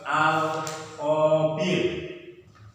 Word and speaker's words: Al-Khabir: Yang kedua, Allah memiliki nama yang kedua Al-Khabir. Tulisannya Abir, bacanya Khabir.